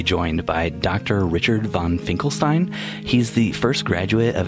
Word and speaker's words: Finkelstein: Finkelstein or how should I refer to you Steve and thanks for having me on it's actually Finkelstein is the correct pronunciation I'm so sorry it's okay but thanks